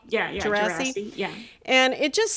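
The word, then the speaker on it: Djerassi: Am I pronouncing that right? Yeah, yeah, Gerasi.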